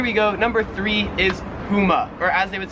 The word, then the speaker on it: Puma: Australia called Pumas or what they say puma like a little gun like pew pew pew.